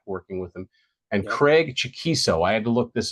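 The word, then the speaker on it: Chaquico: some years back and they put his name phonetically and it was chiso unless he's got it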